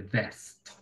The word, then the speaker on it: vest: The vest. Yes. It's not the best, but the vest. Pilas con la pronunciación de la B y la V.